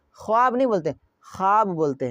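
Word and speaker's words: خواب: वाव है बट वाव का यहां पे प्रोनाउंसिएशन नहीं हो रहा है। वाव का यहां पे उच्चारण नहीं हो रहा है। वाव का जो है यहां पे आवाज नहीं निकल रही है।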